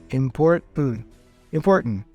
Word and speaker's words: important: is a non-released t meaning that I don't say import import like important I don't release that to you like my tongue goes up but it stays up you know it doesn't go down so import import and then boom once my tongue is up I just continue by pronouncing the and with my nose import important important with practice you get